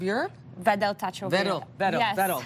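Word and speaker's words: Wedel: Vedel. See, the W is there, and I didn't go Vedel.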